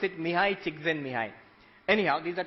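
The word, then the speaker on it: Mihaly Csikszentmihalyi: You pronounce it Mihai Csikszentmihalyi.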